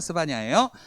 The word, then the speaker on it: 스바냐: 사바나가 아니에요. 스바냐예요.